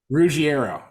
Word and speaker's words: Ruggiero: Ruggiero. Okay, that's how you pronounce it.